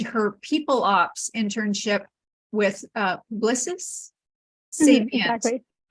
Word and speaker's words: Publicis: Is that right? Publicis Yes, Sapient, perfect. a digital consulting company. I admit I had to look it up to know how to pronounce it. So It's French.